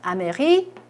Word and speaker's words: américaine: 미국 사람의 여성형 보시면 아메리켄으로 발음합니다. 이것도 역시 끝에 의가 붙으면서요. 비의 모음이 풀어져요. 그래서 아메리켄르가 돼요.